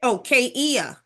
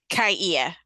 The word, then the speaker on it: Kaia: Oh, Kaia. Kaia. Kaia. Kaia. Mhm. Okay, so it was 3 syllables.